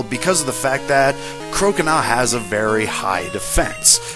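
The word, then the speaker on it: Croconaw: Now he's going to be bringing out his last partner, Crocona, that's how you pronounce it, Crocona.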